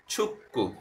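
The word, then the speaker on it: 축구: Particle আসছে, ঝনুন আমি ছুক্কু, ছুক্কু মানে ফুটবল, গিয়ক বা চিমের পরে যদি আবার গিয়ক আসে তখন তাকে সাংগিয়কের মতো উচ্চারণ করা হয়, অর্থাৎ কয়ের মতো উচ্চারণ হবে।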